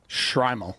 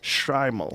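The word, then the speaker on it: shtreimel: Striml. Shrimal. Shrimal.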